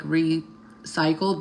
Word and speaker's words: Repsychled: My shirt is from a place in Palm Springs called Recyclables, or like recycled, but it's spelled REPSYCHLED or whatever.